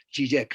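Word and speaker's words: Žižek: el filósofo esloveno slavoj sí sé que se pronuncia si jake no es la uji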